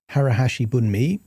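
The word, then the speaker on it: 腹八分目: And there is a Japanese concept called harahashi buu or sometimes it's uh pronounced harahashi buni.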